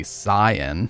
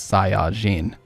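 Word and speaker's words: Saiyan: glasses for this one the correct pronunciation would actually be Sayan because in Japanese it's sain so if you were going to be accurate it actually is Sayan the people who dubb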